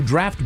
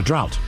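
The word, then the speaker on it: draught: English to refer to draft beer. Uh, drought. Very good. Drought. D r a u g ht. Yeah. Why is that hard to say? Drought. Actually, no, it's draft.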